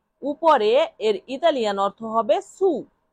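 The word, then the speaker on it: su: উপরে এর ইতালিয়ান অর্থ হবে সু, সু, সু, সু অর্থ উপরে।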